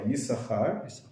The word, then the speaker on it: Yisachar: And then Yisachar. Yeah, in Hebrew it's spelled with two sins, but only one of them gets pronounced. So that's why Yisachar.